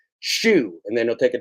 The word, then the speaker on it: Hsu: This is Hsu. Remember, you pronounce it like the shoe on your foot.